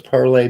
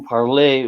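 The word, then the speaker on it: parlez: word by itself that final consonant gets dropped phonetically what does parlay mean do or uh speak oh speak okay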